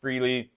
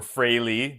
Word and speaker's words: Frehley: I think I met Ace Frehley or Fraley, depending on how you say it.